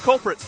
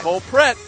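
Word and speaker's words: Colpratt: which by the way it's not culprit it's culprit cole pratt yeah i've been corrected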